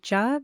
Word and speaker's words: Cha: chai or chai tea I'll be calling it job because that's how it's said in Punjabi hello my name is not kitten and welcome to this episode of massage Sansa I thought Jaa would be a great